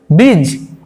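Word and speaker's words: bridge: তারপরে দেখো ব্রিজ ব্রিজ মানে আমরা জানি প্রত্যেকে সেতু ব্রিজ ব্রিজ দেখো এখানে কিন্তু ডি উচ্চারিত হচ্ছে না।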